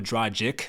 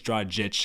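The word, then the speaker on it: Dragić: wrong i always go dragic but i think it's draw a jitch i'll try to you know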